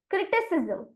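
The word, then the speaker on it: criticism: बन जाता है राइट तो इसीलिए सी आर आई टी आई क्रिटी और सी आई सी होता है की नहीं सी और एस ए तो इसे लिए इस शब्द का उच्चारण हम करेंगे क्रिटिसिजम क्रिटिसिज्म और यहां पर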